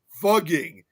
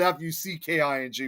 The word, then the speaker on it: Fugging: And now it's pronounced as fugging, which is Fugging, not Fucking before.